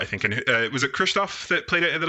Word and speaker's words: Krzysztof: Good pronunciation. Much better than mine. And also, Krzysztof, you said? Yes, Krzysztof.